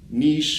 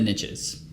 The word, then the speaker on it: niche: riches are in the niches which is why I say niche because that rhymes with rich even though it's supposed to be nice it doesn't really matter